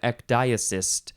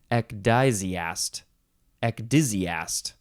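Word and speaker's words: ecdysiast: doing that you are an ecdiasist no EK dizzyast all right next word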